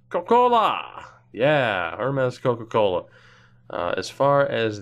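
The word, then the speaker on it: Hermes: on the road against Herman's pronounced hermas Kokkola yeah our mess Coca Cola as far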